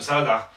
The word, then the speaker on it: Saleh: Adam Saleh, whatever his name is, that's how you say it, Saleh.